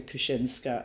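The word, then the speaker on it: Kucińska: and obviously you know it's polish and kuchinska and my brothers the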